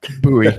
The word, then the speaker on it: Bowie: Looking up how much Bowie made, or excuse me, I said his name wrong. Bowie. Yeah, Bowie. That's okay. It looks like Bowie. Yeah, it's Bowie.